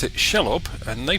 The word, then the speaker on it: Shelob: The Overside Children of Shelob are organising against the Uruks, forming raiding parties to bring down what they consider to be invaders into their lands.